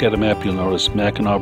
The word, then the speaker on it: Mackinac: a map you'll notice mackinac bridge in mackinac city have two different spellings they're both pronounced the same though with the gnaw sound michigan's tunnel of trees